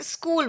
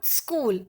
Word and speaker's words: school: बहुत सारे लोग इसको, बहुत सारे बच्चे स्कूल बोलते हैं. इट इज़ नॉट स्कूल, इट इज़ स्कूल. जैसे आधा स का जो प्रोनाउंसिएशन होता है स्कूल. Okay, so this is SCHOOL. स्कूल, नॉट स्कूल. स्कूल नहीं बोलोगे, इट इज़ स्कूल.